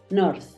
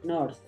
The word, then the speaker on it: north: Tú dices north, se escucha más. Aquí la puedo estar simbolizando con una Z para que tú sepas que la razón es, como está al final, no tiende a escucharse tanto ese golpe de D, sino se tiende a escuchar más el golpe de la Z, north, north.